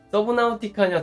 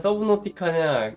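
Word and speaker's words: Subnautica: 그러니까 서브 노티카로 결론이 났어요. 그러니까 서브 노티카가 맞는 발음이다.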